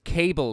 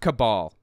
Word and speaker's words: cabal: Guess that never happened because this cable, quote-unquote, doesn't exist, okay? It's fake. And by the way, it's pronounced cabal. The root word being, or the etymology of it, coming from the word Kabbalah, Jewish mystic practice or whatever,